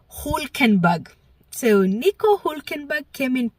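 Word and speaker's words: Hülkenberg: And uh hey, P3, I'm going to try and say his name correctly because I always say Hulenberg, but from all of Ricardo's videos, it happens to be Hulkenberg.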